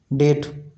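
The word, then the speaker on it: debt: जैसे डेप्ट जैसे डेट डेट का स्पेलिंग इस प्रकार से होता है किंतु पढ़ा इस प्रकार से जाता है।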